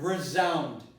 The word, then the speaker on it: resound: For example, if I take the word resound, it is Z, and it's spelled with an S. If I take the word resound or resolute, it's a Z.